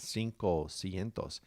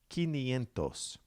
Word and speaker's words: quinientos: change to them so 500 is not cinco sientos it comes from the latin root which begins with q u so it's ki nientos quinientos 600 follows the pattern